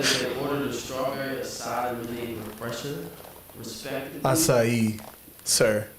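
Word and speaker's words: açaí: in August 2022, the plaintiffs said that they ordered a strawberry acai eliminating repression, respectively.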